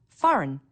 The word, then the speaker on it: foreign: notice the silent B foreign a g that you don't hear Wednesday don't forget the